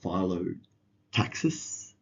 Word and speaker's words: phyllotaxis: Um, Looking at phyllotaxis is how you say it.